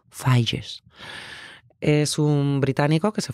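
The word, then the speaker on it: Figes: autor durante un tiempo yo llamé Orlando fijes que es como se escribe pero resulta que se dice Orlando falles es un británico que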